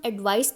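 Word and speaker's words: advice: जो सी वाला है उसे हम एडवाइस बोलेंगे और जो एस वाला है उसे एडवाइज यानी जा साउंड के साथ बोलेंगे। दूसरा डिफरेंस इन दोनों के फंक्शन का है।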